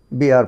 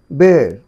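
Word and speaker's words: bear: এটা উচ্চারণ পড়তে। বি আর পড়তে দেখি। কিন্তু না এটি কিন্তু উচ্চারণ বিআর নয়। এটা উচ্চারণ হবে বের বের আমি আবার বলছি শোনো বের বের শেষেরটি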